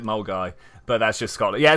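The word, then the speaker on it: Milngavie: i have no idea how someone looks at the name milgraf and decide to pronounce it mole guy but that's just scotland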